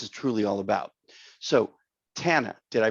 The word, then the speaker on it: Tana: So Tana, did I pronounce that correctly?